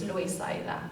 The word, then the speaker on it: Loisaida: But it's how it sounds, and you just pronounce it in Spanish, so it's Loisaida. Basically, you're trying to say Lower East Side. Say it fast, say it with an accent, you get Loisaida Spanish.